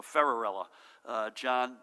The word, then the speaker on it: Ferrarella: make sure I get this pronunciation right and they said think Cinderella so ferrarella there he is right